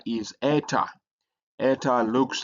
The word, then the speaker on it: eta: Uh but it has a e sound a long e like e in obey.